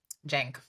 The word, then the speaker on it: Cenk: oh, Cenk, is that how you say it? Hmm. Oh, okay, Cenk.